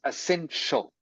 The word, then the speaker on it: essential: Ence essential essential good this this here is pronounced like a sh sound like sh okay so it is essential essential This Ti is pronounced like sh essential everyone essential um any